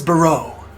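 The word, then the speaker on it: Boreau: My name is Bau.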